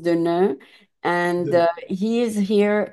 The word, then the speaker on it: Deneux: But in French, it's pronounced Deveneux.